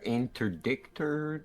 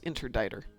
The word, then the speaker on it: Interdictor: the interdictor, the destructor. Just so you know, the- that's interditer. The C isn't pronounced.